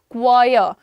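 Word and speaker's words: choir: Pronunciation क्या है? क्वायर।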